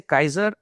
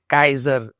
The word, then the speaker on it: Kaaiser: So K say Kaiser, and I didn't want to say Kesar. So and in German they say Kaiser Wilhelm first, Kaiser Ludwig.